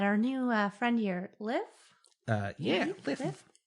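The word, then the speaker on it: Lif: Liv. Yeah, his name is spelled L-I-F.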